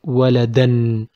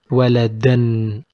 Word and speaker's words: waladan: When we put double fatha, we said we will put a. We don't pronounce it. We just put a. And it will be pronounced waladan, waladan, like this. So from this lesson, we